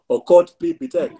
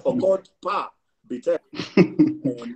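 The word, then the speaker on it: Okot p'Bitek: I'm sure some people pronounce it as Okot P. Bitek. It is Okot P. Bitek.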